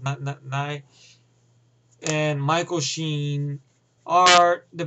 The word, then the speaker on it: Nighy: Now, I will say Bill Nye, or Nighy, or I think Nye, I think it's pronounced Nye, and Michael Sheen are the best actors in this film.